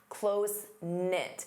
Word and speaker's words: close-knit: You can say they're closenit. Notice the K is silent. Closenknit.